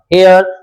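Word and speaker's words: heir: एयर इसका pronunciation ध्यान दें। This word is नॉट एयर। This is actually pronounced एयर।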